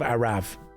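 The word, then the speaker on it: Arrav: It's actually pronounced shield of Arav.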